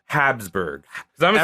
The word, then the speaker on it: Habsburg: You gotta say it like this. House of Habsburg. I'm gonna front load this. I learned it as Habsburgs.